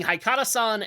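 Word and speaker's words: Haikara-san: We have Alex suggesting Haikata-san, Here Comes Miss Modern.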